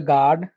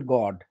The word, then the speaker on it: gourd: o u r d not bottle guard it's bottle gourd bottle gourd bottle gourd now something